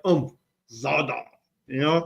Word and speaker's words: Zadar: So, it's not zoda. It's zah. That's how Google pronounce it for both languages. So, you got to give like a little like oomph. Zada, you know, like I'm going to battle z.